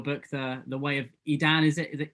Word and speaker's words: Edan: read um your book the the way of edan is it is the edam yes yes you guys were saying it correctly